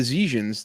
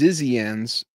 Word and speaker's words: Zizians: The Zhejians, that's what I said. Zhejians. Oh, she Zhejians? said it's pronounced Zizians.